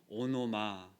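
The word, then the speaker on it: ὄνομα: 헬라어로 보면 오노마 이렇게 발음을 하는 것인데요.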